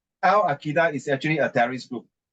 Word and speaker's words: Al-Qaeda: AI No, it's killed not. It's not called AI. It pronounced Al Qaeda.